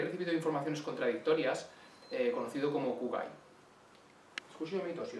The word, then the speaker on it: 空貝: informaciones contradictorias conocido como kuwait justo así o si podría hablarnos de este concepto muy bien perfectamente primeramente tenemos que entender que la pronunciación correcta es curar hay una prolongación de la hay porque éste primero